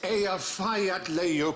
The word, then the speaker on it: Eyjafjallajökull: And I think, actually, the way you're supposed to pronounce it is... Hutch. It's Eyjafjallajökull. Leokodl.